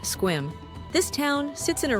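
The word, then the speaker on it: Sequim: Our final day reveals the Olympic Peninsula's surprising diversity with a visit to the lavender farms of Squim, pronounced Squim.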